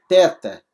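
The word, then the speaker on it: θῆτα: teta aqui por exemplo teta teta é th th como em Deus a palavra como se fosse Obrigado thank you né como se fosse teos ou teó tá bom então a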